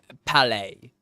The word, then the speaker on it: Palais: Palace, I guess. Is there a pronunciation here by any chance? I don't see one. Oh well. Palace. Palais, Mr. Major. Rhymes with ballet.